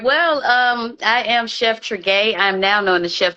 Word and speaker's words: Tregaye: Well, I am Chef Tregaye.